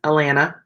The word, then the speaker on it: Atlanta: I'm really from there because I don't pronounce either of the T's. Atlanta, Georgia.